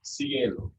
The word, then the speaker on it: cielo: But then if you have an E or an I, this S sound, cielo, that's heaven.